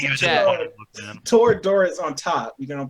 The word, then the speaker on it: Toradora: Teradora and Nichachuchu? It's Nijijo and Toradora.